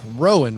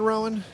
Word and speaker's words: Rowan: yeah you batman awesome rowan right rowan you bet no weird pronunciation there okay cool i'm joined